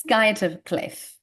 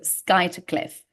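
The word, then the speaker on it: Skuytercliff: pronunciation but it's pronounced Sky of Cliff although there is a u so a good uh pronunciation Tri uh trick here um so you don't pronounce the U because it's Pro it's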